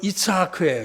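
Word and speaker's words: יצחק: 이삭, 이게 본토 발음하면 이츠하크예요.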